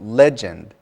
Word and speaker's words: legend: I think 99% of my students have trouble with this word, and the accent is on the first syllable, legend.